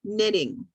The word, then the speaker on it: knitting: If you want to knit something for somebody, this is called knitting. Okay, there's no K, it's just an N, knitting.